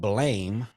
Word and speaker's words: Blame!: it's spelled blame yeah when I watched the trailer it pronounced it as blam so I don't know I don't know if the guy in the trailer was saying it with like a Japanese accent or whatnot but yeah